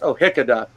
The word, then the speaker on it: O'Hichidhe: And it's like, it's O'Hickada, which is Gaelic for the last name of, which is my traditional family name.